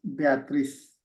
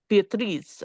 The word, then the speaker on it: Beatriz: In Spanish is Beatriz. Yeah, Beatriz, right? With a Z. Beatriz. Oh, Beatriz.